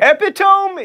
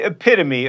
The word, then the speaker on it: epitome: for instance it's awry epitome is the epitome of mispronunciation you don't go to